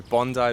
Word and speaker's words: Bondi: Is that how you say it, Bondi? Exactly, Bondi Beach.